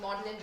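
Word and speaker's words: Magdalen: Even something as simple as knowing that MA gene is pronounced modelin reflects who historically shapes institutional norms.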